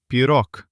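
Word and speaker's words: пирог: We write pirog, but we pronounce pirok.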